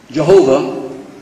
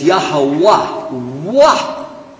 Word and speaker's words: Yahuwah: muslim yeah right so jehovah is definitely an english pronunciation of the word without any vowels non-jews added vowels and said well it's probably jehovah but it's yahuwah now where does that